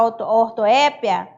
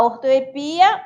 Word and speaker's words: ortoépia: Como o caso também da própria palavra ortoépia, eu posso falar ortoepia ou ortoépia, tá bom?